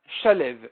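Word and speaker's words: שלו: Ktiv slav, shalev. Le mot slav est écrit dans la Torah, shalev. Ça s'écrit comme ça. Vekarinan slav. Mais on le lit slav.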